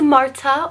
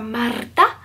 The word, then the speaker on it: Marta: If you are new here, my name is Marta, or Marta. If you can roll your R's all fancy, but either way is fine.